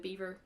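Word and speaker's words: Biewer: not sure what a beaver terrier it's spelled b-i-e-w-e-r not beaver like the animal uh it's mr and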